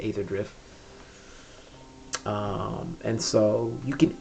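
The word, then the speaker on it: Aetherdrift: active set is is ether drift or ather drift however you want to pronounce it I I like to pronounce it Aether drift um and so you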